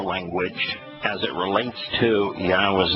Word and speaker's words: Yahweh: Now, Yahweh tells us how to pronounce his name because when he introduces his name, he says that it is based upon the Hebrew verb Haya, which means to exist.